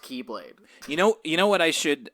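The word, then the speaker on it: χ-blade: Spelled X-Blade, but it's pronounced Keyblade.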